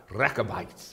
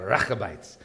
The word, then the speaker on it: Rechabites: You have to roll your R. Rah, rah, rah, Rechabites. And you got to get the ch in the back of your throat for that, okay? The Rechabites.